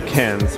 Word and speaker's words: Cairns: up here in Queensland two cans which is spelt a very different way than the way Australian say it and then from cans